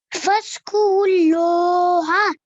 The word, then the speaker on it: فاذكروا الله: So we have to be careful to not pronounce any of these four letters in between because they're blank. Okay. Okay. So just ignore them in your recitation. Don't think about them, and ra joins straight away to the lam with force because it's a mushaddad letter.